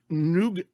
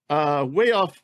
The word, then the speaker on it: Nougues: Richmond, Seton Hall, Isaac Noog, I don't know how you say his name. Noogs, we don't have him ranked very highly. He's a G League guy. It's Nougues, way down our draft board.